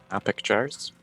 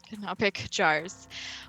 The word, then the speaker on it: canopic jars: Oh god, I totally forgot how to pronounce that word. Canopic jars? Yep. Canopic jars.